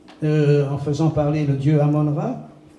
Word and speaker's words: Amon-Ra: Il y a un papyrus égyptien qui dit, en faisant parler le dieu Amon-Ra, qu'on prononce Amen-Ra, en réalité.